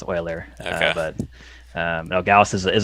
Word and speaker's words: Euler: because he has a lot So of you pronounce it Euler. That's how I pronounce it as well. I think that's the I German hear people say way. Euler Um, sometimes, and I'm I've like, always I don't know.